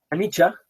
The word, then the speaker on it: anicca: Dhamma en términos de anicca, en términos de dukkha, en términos de anatta? Anicca, la C se pronuncia como una ch de chía, anicca, dukkha y anatta.